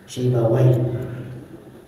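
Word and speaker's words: سيبويه: ulama besar ahli bahasa namanya si bungya sebagian kita sering membacanya dengan apa sibawai boleh enggak dibaca sibawai boleh Insyaallah Walaupun ada sebagian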